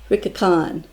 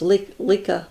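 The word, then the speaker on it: Licca-chan: i thought it was lika lika something like that but it's pronounced rickacon and this is her i'm sure a little closer um yes the japanese do not pronounce ells and i know that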